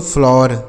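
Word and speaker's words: flour: आगे देखिए एफ एल ओ यू आर और एफ एल ओ डब्ल्यू ई आर। इसे क्या पढ़ेंगे? देखिए एफ एल ओ यू आर। इसे पढ़ेंगे दोस्तों। फ्लावर। क्या पढ़ेंगे? फ्लावर। इस तरीके से पढ़ेंगे। फ्लावर। ठीक है? और एफ एल ओ डब्ल्यू ई आर इसको भी हम फ्लावर पढ़ेंगे। ठीक है? ऐसे ही पढ़ा जाता है फ्लावर।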